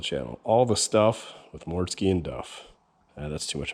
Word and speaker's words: Mortske: More Mortske Repair. Just like it sounds, just like it's spelled. More Mortske Repair.